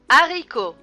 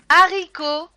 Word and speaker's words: haricot: h dans ses mots haricots à ricco h serait bien tu as veut on peut voir la lettre h mais on ne peut pas la prononcer haricots à mac à